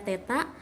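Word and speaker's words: θ: Nah, ini dimensinya, kalau panjang dimensinya L, massa M, waktu T, kuat arus I, suhu ini dibacanya theta, intensitas cahaya J, dan jumlah zat adalah lambangnya N.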